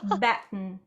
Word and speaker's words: Batten: your last name correctly baton bat like baton i'm so sorry okay so i don't say your name wrong in the live red bull transmission hayley batten that would be the